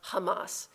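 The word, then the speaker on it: חמס: us this year because the word for lawlessness is pronounced Hamas um this word is not the same as the terrorist organization they're two different words but they sound the same and it's very evocative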